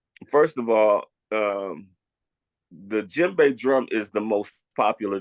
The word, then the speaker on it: djembe: about this drum here is actually called a jimbe it's spelled DJ e m b e but it's pronounced G the D and the J is R run together so you say jimbe okay and now that drum there do you